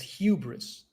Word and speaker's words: hubris: By the way, I believe I pronounced it wrong, and it's hubris. Excessive pride or self-confidence. Sorry for my mispronunciation of hubris.